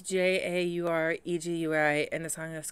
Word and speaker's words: Jauregui: I know I'm going to pronounce it wrong. I am sorry. It's Jauregui, and the song is called Pina.